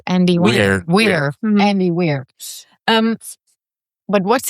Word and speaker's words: Weir: How do you pronounce Andy? Weir.